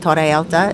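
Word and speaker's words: Torre Alta: of you guys who've never um heard about toraelta it's spelled t-o-r-r-e alta a-l-t-a alta is like high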